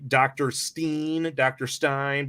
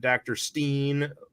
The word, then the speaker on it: Dr. Stein: Really, I know people like Dr. Stein, but they pronounce it Dr. Steen. That always annoys the hell out of me, how they mispronounce that.